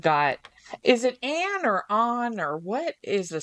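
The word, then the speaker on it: Anh: We've got, is it Anne or on, or what is the spell? On. What is the pronunciation?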